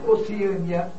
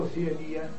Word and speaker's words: Oceania: portuguesa que apresentam dupla prosódia, ou seja, dupla pronúncia. Tá claro? Então vamos aproveitar e listar alguns aqui. Nós temos Oceânia ou Oceania, Balcãs ou Balcãs, Homília ou Homilia, hieróglifo ou